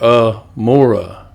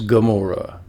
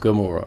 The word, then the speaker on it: Gomorrah: Amora. See that? Amora. But it actually is Gamora. Pronounced Gamora.